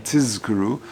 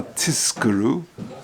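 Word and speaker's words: תִּזְכְּרוּ: Yeah, in the third paragraph of Shema, leman tizkuru, you should say Zayin properly. Telo lishama tiskuru, a tiskuru.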